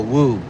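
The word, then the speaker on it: Woo: Patricia Wu. It's spelled W-O-O. Patricia W-O-O. Wu.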